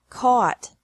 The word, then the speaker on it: caught: Catch, caught, caught. Fight, fought, fought. Seek, sought, sought. Teach, taught, taught. Think, thought, thought. Remember that the G is silent in these verbs.